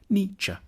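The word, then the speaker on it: Nietzsche: to pronounce his name the first bit should sound like n the second like cha n cha then we need to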